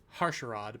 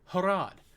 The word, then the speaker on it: Harad: I wanted to say Harsharad, but I know that's wrong. They're in Harad. Why didn't you just go to Harad? Oh, you didn't want to do that because Harad's in Mordor, and Harad